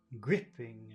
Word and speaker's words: gripping: icicle gripping and icicle where's the accent on gripping it's the first syllable gripping where's the accent in icicle it's the first syllable gripping an icicle like gripping